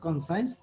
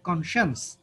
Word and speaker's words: conscience: the word conscience but don't pronounce the word concise rather the pronunciation should be conscience okay it's again noun